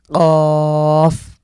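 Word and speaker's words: قاف: ধাক্কা দিয়ে পড়তে হবে কফ।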